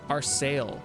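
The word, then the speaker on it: Arseille: The our sale is how it's pronounced.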